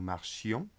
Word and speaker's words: marchions: So in the imperfect it's important to pronounce the I. Nous marchions, vous marchiez.